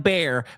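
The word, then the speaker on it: Bexar: County and I'll say Beexar and somebody has to swoop in and go actually it's pronounced like Bear Bear County every single time.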